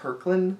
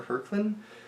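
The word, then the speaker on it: Hoechlin: Duds uh it's Tyler I think his name is pronounced herland Tyler hland uh and we have only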